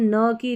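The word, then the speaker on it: knock: तो यहाँ पर देखें, रूल नंबर 5 है, के एन को हम न की ध्वनि देते हैं, मतलब न पढ़ते हैं, क्योंकि के साइलेंट रहता है।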